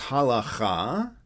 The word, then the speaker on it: halakha: So the Hebrew word is halakha, with a regular H at the beginning and a ch in the middle, but the ch is really originally a K sound.